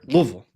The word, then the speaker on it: Louisville: I live in Louisville or as the locals say here, Louisville and we could do a bourbon tour there.